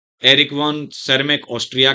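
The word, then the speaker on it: Tschermak: और एक थे एरिक वेन सरमैक। उसको सरमैक बोला जाता है बेटा, टी एस से शुरुआत है, टी साइलेंट है, सरमैक।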